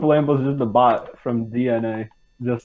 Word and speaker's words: DNA: pronounced DNA. Is it really? Is it? It Yeah. is. They said it in the Q&A once. Are you serious? Ah, well, whatever. You know what? Fuck And yes, them. They don't that- deserve it's- to have their their name name- pronounced right. Also, their name is literally a pun because, you know, DNA.